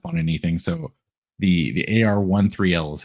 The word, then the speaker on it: AR-13L: Ariel or or is AR how do you pronounce Sure. So we say AR13L just because uh the name Ariel is actually copyrighted by Disney.